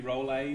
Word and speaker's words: Rolle: the next theorem would be rollies Theorem and I know it's supposed to be roll a theorem but too bad I